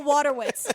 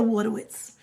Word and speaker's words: Wojtowicz: And the thing about Wojtowicz, you guys, it's not spelled water, W-A-T-E-R, W-I-T-Z. It's like there's a J in there.